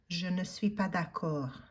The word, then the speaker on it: je ne suis pas d'accord: And I think I mentioned it to you in class that in spoken French, they would say it so fast that you would probably not hear the n at all. So it would sound more like, je suis pas d'accord.